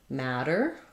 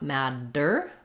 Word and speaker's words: matter: we also flap 2DS for example the word matter I matter than you are and that matters to me um those both have the same flap sound so a flap is basically voiced we raise our tongue up to the T and D Spot but we don't build up a lot of pressure not mad dur but matter matter comes up voice is